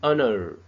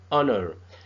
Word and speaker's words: honor: But because the H sound is silent, so we started our pronunciation with the sound of the letter O.